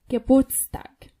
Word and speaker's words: Geburtstag: However, in the word birthday, it's used and pronounced. Geburtstag.